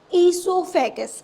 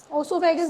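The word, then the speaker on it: oesophagus: इससोफेगस। इससोफेगस को क्या बोलते हैं? फुटब ओसोफेगस नहीं है। वो साइलेंट है यहां पे।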